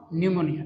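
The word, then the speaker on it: pneumonia: है बोलो मलेरिया लिख न्यूमोनिया लिखलो साइलेंट है ना न्यूमोनिया ठीक रिंग वर्म सबसे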